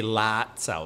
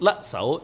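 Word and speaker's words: lap sao: But the Germans always pronounce it wrong. They say lat sao, lat. And in Cantonese, it would be let, it's short, let sao, let sao, not lat sao.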